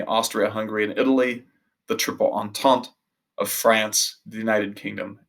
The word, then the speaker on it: Entente: Entente rhymes with ha ha ha. Entente rhymes with ha ha ha, so it's French.